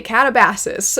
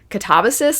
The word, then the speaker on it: Katabasis: I always want to say Catabases, but uh I don't think that's how it's pronounced. I believe it's pronounced Katabasis, like the emphasis is in the middle.